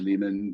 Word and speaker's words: Lehman: appear as you know Leeman rhymes with demon the first Jason and